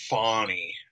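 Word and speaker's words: Fani: a Georgia district attorney, she says it's pronounced Fawny, but it's Fannie Willis continues to take media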